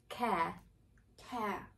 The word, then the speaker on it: care: open my mouth yeah you drop the jaw and the tongue is quite relaxed care care yeah i don't care i am there is a true d there yeah right and the thong just like in post i don't care excellent that's about it we hope